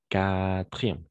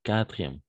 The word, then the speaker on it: quatrième: On saute le U, quartier, quatrième, quatre, quand, etc.